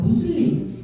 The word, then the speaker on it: 무슬림: 정확한 명칭은 아니고 아까 김영훈 연구원님 말씀하셨던 것처럼 무슬림 정확한 발음이고 정확한 의미로 어 전달이 됩니다 그리고 여자